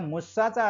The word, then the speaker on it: मुसा: जेव्हा मुस्सा असं म्हणतो त्या मुस्साचा अर्थ होतो विसरणे म्हणून मुस्सावादा वेरमणे असं जर म्हटलं तर मी खोटे बोलण्याची शिकवण विसरतो असाही त्याचा अर्थ होतो आणि अर्थाची मोठी हानी होत असते म्हणून उच्चारण जे आहे आपलं ते शुद्ध असलं पाहिजे हे या निमित्ताने मला आपल्याला सांगायचं आहे म्हणून आपण हे म्हणत असताना हे शील म्हणत असताना मोसा असा साधा उच्चार करायचा आहे मुस्सा असा रेखून उच्चार